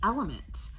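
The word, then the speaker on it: LMNT: me all of that would be element and it's spelled LM NT uh a lot of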